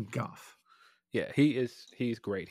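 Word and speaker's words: Gough: kidding by the way I think it's Goff we may have been miss pronouncing it for years here Phil it's Michael Goff yeah he is he's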